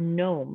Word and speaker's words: gnome: Or if you have the word gnome, like a garden gnome that some people have on their front yards, we don't say the G, we only pronounce the N.